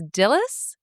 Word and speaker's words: Dillys: name I can't pronounce, Dillys. Would you say that's Dillis? Yeah.